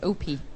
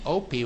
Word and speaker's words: OPI: for you it's stuck Opie yes and Opie which is really the wrong pronunciation it means grandfather in German so oh does it